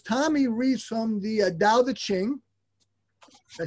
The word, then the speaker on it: Tao Te Ching: been doing is tommy reads from the uh dow the qing i said it right yes and we read